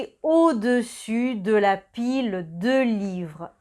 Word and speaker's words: au-dessus: Otra vez, cuidado con la pronunciación de au-dessus, en dessous. Au-dessus, primero es el sonido O, A, U forma el sonido O, dessus, el final es el sonido U, dessus, au-dessus y en dessous.